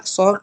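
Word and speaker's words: XOR: Kalau ada A, ini dibacanya A SOR dengan B.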